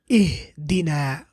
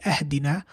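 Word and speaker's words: اهدنا: So, ihdina. Why don't we say ahdina? Why don't we say uhdina? Why do we say ihdina? Because the third letter has a kasra. Ihdina.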